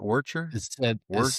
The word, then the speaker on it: Worcester: That's how you pronounce it. Worcher. Worcester.